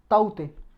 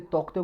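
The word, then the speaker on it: Tauktae: तो साइक्लोन आया जी अभी, ट्रॉपिकल साइक्लोन, जिसका नाम है ताउते। ताउते भी बोल सकते हो जी, कहीं पे टाउटे बोलते हैं इसे, कहीं पे तोकते बोलते हैं।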